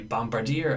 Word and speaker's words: bombardier: yet bombardment now I do pronounce this be Bombardier I do pronounce this B produce productive production product produce